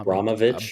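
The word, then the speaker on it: Abramović: How do you say her last name? Abraovic Abramovich. Abramovich. Maria Abramovich. If you look her up and look up Spirit Cooking, you can find the video on YouTube.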